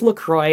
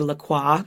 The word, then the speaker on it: LaCroix: by the way it's Lacroix I looked it up because it rhymes with enjoy that's on their website